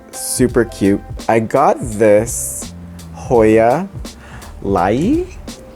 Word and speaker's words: Hoya lyi: I got this Hoya Lyi. It's spelled L-Y-I, and I love it.